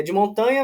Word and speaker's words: de Montagna: né @d montanha cafés eh a pronúncia é de montanha mas é escreve de montagna né é o de montanha italiano né perfeito Maravilha mar